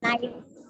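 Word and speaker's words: knife: right இது தெரியும் நமக்கு கத்தி நைஃப் நைஃப் கே வந்து சைலென்ட் சோ கே ல ஏகப்பட்ட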